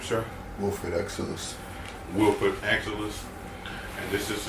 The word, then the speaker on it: Exilasse: 4-year-old Elijah, how you pronounce it? Exilasse.